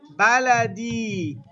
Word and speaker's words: بلدي: It's the same word, but you just have to like put the E at the end. Yeah. There's no E. Don't say E. It's a ya with sukoon, not the letter E in English.